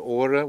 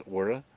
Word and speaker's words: Chora: So we cut through the Chora, which is the capital here. It's spelled Chora, but I understand they don't pronounce the C, so I think it's Chora. Or Hora, I'm not sure which.